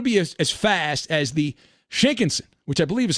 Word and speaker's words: Shinkansen: And it's going to be as fast as the Shinkansen, which I believe is how they say the bullet train in Japan.